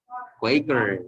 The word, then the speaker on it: Quaker: ¿Cuál es la verdadera pronunciación? Quaker, very good. Quaker, it's not Quaker, ¿verdad? Pero claro, no puedo llegar a la tienda y decirle al señor, véndame una bolsa de Quaker, porque se me va a quedar viendo raro, pero esa es la pronunciación correcta.